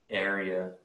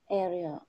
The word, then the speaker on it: area: the pronunciation of area you want to emphasize the first syllable area area there was something you